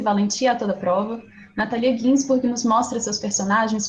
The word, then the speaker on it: Natalia: parênteses, eu não sei, eu sempre falo Natália, todo mundo fala Natália, mas a pronúncia aparentemente correta do nome dela é Natalia. Eu às vezes tento corrigir, mas nunca sai, mas fica para vocês saberem como que se fala, porque é italiano.